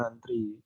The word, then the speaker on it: antre: Tulisannya antre tapi dibacanya antri.